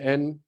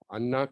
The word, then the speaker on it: अन्ना: द समाधि ही spells ह name A double एन ए अन्ना खंडाले तो यहां पे एक स्पीकर थे उन्होंने